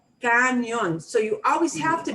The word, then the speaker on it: cañón: So words like canyon, because you know canyon and your brain so desperately wants to say canyon, it comes out canyon sometimes. So watch yourself. Canyon is muy gringo. Cañón.